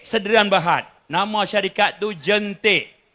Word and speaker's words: Jaentique: Nama syarikat tu Jentik. Sebutannya Jentik. Ejaannya JAENTIQUE. Jentik.